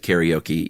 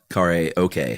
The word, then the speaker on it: karaoke: carry uh you know we'll pronounce it karaoke even though it's Kare okay karaoke okay but We're